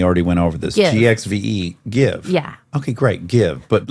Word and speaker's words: GXVE: makeup first of all tell me how to pronounce it because again we already went over this gxve give yeah okay great give but let the listener know give is spelled g x v e yeah that's